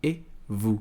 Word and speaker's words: et vous: Et vous. Então aqui ele vai ter som de E. E tudo isso aqui vai ser simplesmente um vous.